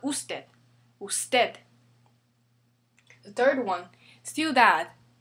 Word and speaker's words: ciudad: The third one, ciudad. Ends with a D again, it's a consonant. Ciudad, ciudad. So this is rule number 2.